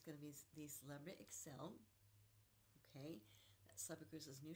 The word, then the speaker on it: Xcel: out soon is going to be the Celebrity Excel.